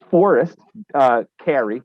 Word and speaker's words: Forrest Carey: Forrest Carey, am I pronouncing his last name correctly? Yes.